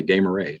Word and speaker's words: Damaris: could pronounce it, like, why don't we just pronounce it the right way, Damaris?